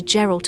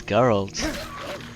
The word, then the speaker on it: Geralt: It's not Geral, it's Geralt.